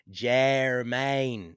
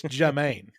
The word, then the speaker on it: Jemaine: I say do wrong you said jeremain you said Jam aim it's Jermaine you would think the harder